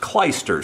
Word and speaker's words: clyster: of a syringe and I believe it's pronounced kleister c-l-y-s-t-e-r and clysters were used